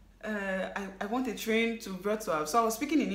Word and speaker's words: Wrocław: I was still calling it Wrocław because Wrocław is how it's spelled. Like, if you're looking at it in English, it's Wrocław. But then in Polish, you don't call it Wrocław. You have to call it Wrocław.